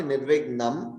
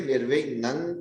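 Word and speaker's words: निर्विघ्नं: So same thing, it should not be Nirvignam, it should be Nirvignang Kurume Deva. Nirvignam, not Vignan.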